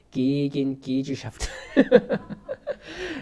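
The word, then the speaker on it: Gegengesellschaft: 그 사람이 교회를 뭐라고 이야기했냐면 게겐게젤샤프트라고 이야기했습니다. 조금 더 원어 발음에 가깝게 하면 기긴기즈샤프트.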